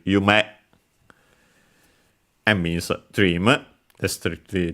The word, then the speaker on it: 夢: As for its pronunciations, we have Yume. No, actually accented on the second one. Okay, so I didn't remember it correctly. Then I second guessed myself. So it's actually Yume and means dream.